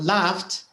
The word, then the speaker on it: laughed: sat yes media listened it's a d listened listened listen no with it's with a d listen listened not a t uh but for example laughed laughed is a T